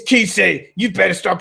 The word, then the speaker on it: Kise: The other members, somebody told me, "Hey, it's Kisei. You better start pronouncing his name right.